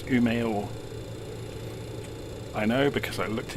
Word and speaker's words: Umeå: new is the destination so just um for pronunciation purposes so we're flying from Scandinavian mountains to UMO it's not um it's UMO I know because I looked it up I'm